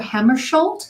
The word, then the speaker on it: Hammarskjöld: Hammarskjöld? Is that how you pronounce it?